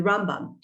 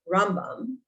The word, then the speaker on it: Rambam: And interestingly enough, Maimonides, the Rambam, who is by far the most I guess